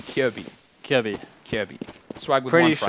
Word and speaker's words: Kjærbye: He'll make another frag Kjaerbye. Kjærbye. I keep saying his name wrong. Kjærbye.